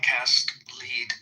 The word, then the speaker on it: Cast Lead: I thought the operation was LEAD, Cast Lead, LEAD. Yeah, LEAD is lead. It's what you make put in bullets.